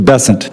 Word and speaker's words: Bessent: Cassidy um Mr bant I'm always going to pronounce your name as if it was in south Louisiana and I'm going to pronounce it with a French bant as opposed to bessent that's what those folks in South Carolina do um I'll try let